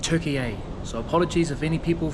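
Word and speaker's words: Türkiye: I've been pronouncing it Turkey, but apparently it's called Turkey A.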